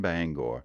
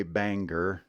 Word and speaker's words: Bangor: nine years here in Bangor speaking of Bangor that's the next word you always know an outsider when they say Banger nope not even close Bangor Bangor next word is one